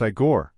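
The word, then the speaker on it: Igor: of the movie is aore pronounced aore Marty Feldman it's not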